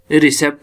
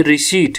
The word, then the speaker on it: receipt: रिसेप्ट नहीं है, ये रिसीट है।